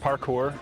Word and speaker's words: parkour: It's pronounced parkour.